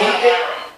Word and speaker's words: Hiram: Hiram. The H is silent, so.